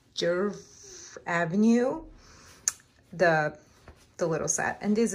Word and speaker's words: Djerf Avenue: And this is from, I need to learn to pronounce the clothing store, but it's Djerf Avenue, the little set.